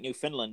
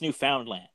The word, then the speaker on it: Newfoundland: we call it we it sounds like new finland but it's just the way we pronounce it it is newfoundland and for anyone who has money to travel here we are great except for st.